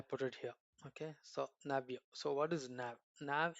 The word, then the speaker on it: Navio: So how do I pronounce? I put it here. Okay. So Navio.